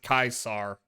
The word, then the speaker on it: Caesar: It's actually like, you know, it reflects people's uh view of Caesar, how they pronounce his name, which makes it kind of weird because they're in the same core cuz normally the Legion guys pronounce it Kaisar 105.